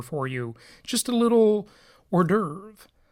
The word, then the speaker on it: hors d'oeuvre: you just a little hors d'oeuvre or a day over a as it is spelled if you don't speak French all right so we'll